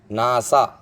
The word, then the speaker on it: NASA: The third and final example, a NASA member. Again, NASA member. So NASA in abbreviation, and it's an acronym because it is pronounced like a word.